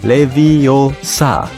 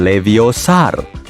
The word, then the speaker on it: Leviosa: butuh bantuan Hai Siri yang benar Leviosa bukan leviosar aplikasi pengukur Apa alat